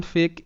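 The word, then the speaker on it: fake: কিছু শব্দ, শব্দ যেমন ফেক, এফ এ কে ই, ফেক। তো এখানে এফতে ফ এ এ হিসেবে উচ্চারিত হবে, আর কে ই জাস্ট ক হবে, কারণ ই এখানে সাইলেন্ট, সেই বিষয়টা আমি বলছি দাঁড়াও।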